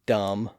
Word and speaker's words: dumb: Those Bs are there because, again, there was once a B sound at the end of those words or in some part of the earlier version of those words. And in those cases, the Bs were once pronounced in the Middle Ages. But the evidence suggests that they were all silent by the early 1600s.